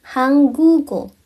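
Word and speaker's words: 한국어: Tapi Hangugo.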